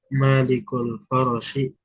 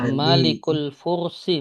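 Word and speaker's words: الفرس: Nah, kita baca dari bismillah kisru malikul farsi min Malikul Fursi bacanya. Malikul Fursi ya. Fnya di domah.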